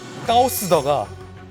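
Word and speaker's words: 高市: 근데 재밌는 게 썸나일에 쓰인 말썽꾸러기를 뜻하는 까오스더가 이 다카이치 총리의 중국어 발음 까오스와 비슷한 것도 굉장히 의도적이다. 그러니까 다카이치 총리의 이름의 중국식 발음 까오스와 중국어 말썽꾸러기를 뜻하는 까오시다 어떻게 합니까?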